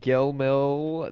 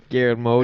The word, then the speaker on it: Guillermo: let's introduce the movie directed by Gayle mill del Toro very poor pronunciation of the name Pierre mo Guillermo del Toro yeah I know man